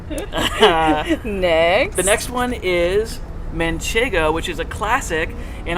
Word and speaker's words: manchego: that is so cool because so many people pronounce it manchango yeah and it truly is manchego there's no there's no end you know at that at the end of the in the middle it's manchego not menchengo munche there is an n but it's more